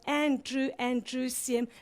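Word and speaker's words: androecium: and true all right you don't spell it like that but andrew and drew siem is just a way to remember it's a boy's name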